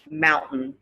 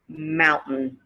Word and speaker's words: mountain: to the american accent this occurs in words when a syllable ends in t and the next syllable is a syllabic n meaning the end of the word has like an n sound okay so the first